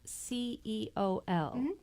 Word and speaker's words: ceol: Fiddle Forays, and you can find it Hannah Harris, CEOL. And that's pronounced Ceol. It means music in the Irish language.